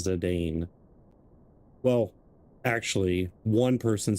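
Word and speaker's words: Zidane: So, or according to the voice acting, Zidon. He'll always be Zedane. I don't care. Yeah. I don't know why the voice acting pronounces it like that. I mean, is that the way you pronounce it? Everyone I've ever known in existence that has played this game and has said his name is Zane.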